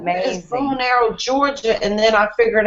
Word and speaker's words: Bonaire: It took me forever to figure out that bow and arrow was Bonaire, Georgia.